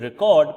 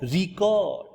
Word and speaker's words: record: For example, in English, the word record can mean either a device for a recording sound. When the stress is on the first syllable, so we say record, record, record, or the act of